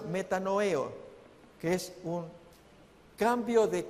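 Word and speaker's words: μετανοέω: La otra palabra se pronuncia metanoeo, que es un cambio de convicciones, cambio de mente, un pesar con un profundo cambio de comportamiento, no de simple opinión.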